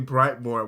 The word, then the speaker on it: Brightmoor: Okay, Brightmoor. Okay, somewhere off. They let you because they make sure they pronounce that shit. No, it's Brightmo. Okay, Brightmo. First off, you don't pronounce the tree Brightmo.